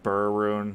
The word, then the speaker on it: Ber: in the neighborhood of a bear rune or burun however you want to pronounce it b-e-r uh oh yeah that's